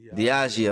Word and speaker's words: Diageo: Diageo, okay.